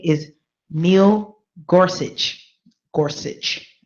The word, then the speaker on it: Gorsuch: Gorsuch. Gotta pronounce that. It sounds a little German.